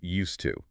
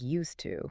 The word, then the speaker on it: used to: Look at the phrase used to. Native speakers do not pronounce the D and the T separately. Right? It doesn't sound like used to.